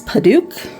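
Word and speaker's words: Padauk: So this is Paduke. I did verify the pronunciation of that one too. I did have that one right.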